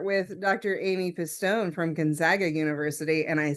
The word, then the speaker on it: Gonzaga: It's not Gonzaga, it's Gonzaga. It's a nice Midwestern a there.